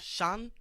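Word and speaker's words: Sean: e a n right what do they scene could be seen seen yeah that's not my name Shan Shan Shan them hey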